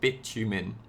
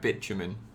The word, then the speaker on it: bitumen: liquid it does not boil and it's called bitumen this is how this is pronounced bitumen yeah it's a great name right bitumen very very long carbon chains here guys okay